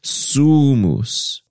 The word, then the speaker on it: sumus: end of sumus so you say suus the stress is on the first syllable in the music it